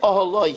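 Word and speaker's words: אהלה: It's read Oholoi, his tent, but it's spelled Aleph Hey Lamed Hey, which reads her tent.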